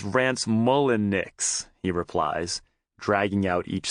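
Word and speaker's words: Rance Mulliniks: Lance Mullinks? The Kid asks, fishing out the 1986 baseball cards that inspired the trip. Jesse rolls his eyes. Jesus Christ, Kid, it's Rance Mullinix, he replies, dragging out each syllable.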